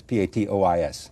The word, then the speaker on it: patois: uh tatas no I skipped I had to pronounce this p-a-t-o-i-s Patois Patois basically the rule is use Regional